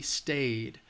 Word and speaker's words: stayed: that's a rule if it ends with that vowel sound it's going to have the e D is going to have the D sound stayed okay stayed next one